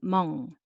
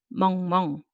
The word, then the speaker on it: 멍멍: So mu plus 어 and ng sound 응 underneath. 멍. And just copying once again. So 2 syllable, 멍멍.